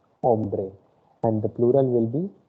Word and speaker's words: hombre: you the pronunciation first h will be silent here again it is ombre okay o is the word from where you will pronounce ombre and the plural will